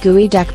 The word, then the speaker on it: geoduck: Yes, we're aware of what that thing looks like, but we're also aware that the geoduck, pronounced gooey duck because nobody knows how to pronounce Native American languages anymore, is just a giant clam with an even bigger body.